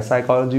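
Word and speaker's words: psychology: साइकोलॉजी में P silent है, क्यों?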